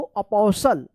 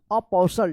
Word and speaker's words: apostle: क्या पढ़ेंगे इसको, अपोसल, अपोसल, टी साइलेंट रहेगा।